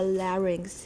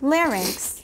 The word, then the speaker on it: larynx: term and it and into the larynx larynx larynx okay i don't say larynx it's not wrong people on the east